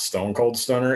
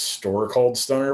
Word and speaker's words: Store Called Stunner: because i was drunk it is not stone cold stunner it is store called stunner which actually makes it